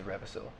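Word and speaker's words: Revasyl: own voice you hear um my name is revil and I was the first dragon I am I have not you spell that r e v a s y l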